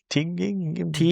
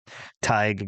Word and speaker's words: Tighe: they I think meet it's pronounced like Tighe.